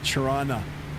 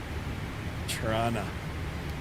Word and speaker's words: Toronto: Torana. That's how we pronounce it. Tana.